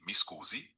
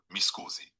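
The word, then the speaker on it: Mi scusi: excuse me formally in Italian you can say misoozie. Here's how you pronounce it. Me pronounced schoozy. So altogether misoozie.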